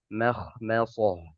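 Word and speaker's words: مخمصة: Contohnya apa? Makhmasoh. Makhmasoh. Ya tidak boleh bacanya ma. Makhmasoh. Makhmasoh. Ini juga tidak diperbolehkan. Harus tipis cara membacanya.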